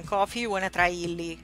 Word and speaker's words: Illy: It's called Illy, like it's spelled.